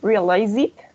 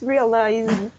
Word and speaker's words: realized: Yes, you hear like realize it. Realize it. Yes. No, it's realized.